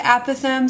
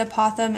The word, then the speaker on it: apothem: Okay, this, the apothem, some people pronounce it apothem, some people pronounce it apothem. It's kind of whichever you prefer.